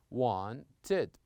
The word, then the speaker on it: wanted: For example, here we pronounce it as this, wanted.